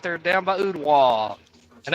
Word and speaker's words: Ottawa: Ray County, the East Hamilton Hurricanes, right there down by Ottawa, and that's how it's pronounced, Ottawa, not Ottawa, Ottawa.